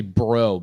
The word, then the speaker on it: Brault: I know this isn't how you pronounce his last name, but it's spelled Brault. Dan Bro. Oh yeah, Dan Bro. It's actually Bro. BRO is how you pronounce it.